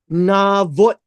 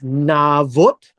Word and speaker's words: Navot: It says here, after that, we have this gentleman, Navot. This is how it's pronounced, it's Navot.